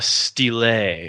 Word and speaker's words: Steele: and steel always steals that's a misnomer because his is spelled s l e not as in I'm going to steal but as in the color so it's more it's more of a it's more of a stil yeah stil that's his